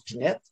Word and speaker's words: Pinet: Mais elle a eu deux conjoints, un Pinet, nous autres on prononce Pinette, puis un autre c'est Rimbaud, René Rimbaud.